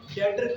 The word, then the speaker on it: debtor: इसमें बी नजर आ रहा है आपको, साइलेंट है बी, लेकिन यहाँ पर बी साइलेंट है। आप लोगों ने इसको जब पढ़ना है तो डेटर अकाउंट पढ़ते हैं, डेबिटर अकाउंट।